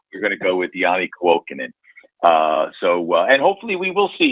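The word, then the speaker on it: Janne Kuokkanen: When you see a new guy coming, but it's Yanni Kuokkanen.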